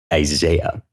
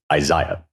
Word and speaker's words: Isaiah: And the way that the British pronounce Isaiah is Isaiah. And that is how I pronounce Isaiah most of the time.